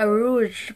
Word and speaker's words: rouge: Queenie sa PAGCOR saakin Rouge pala yung ta Rouge parang ganun yung pure Rouge niung binili ko so Mali pala yung pagpronounce ko Last Time Twice pa talaga so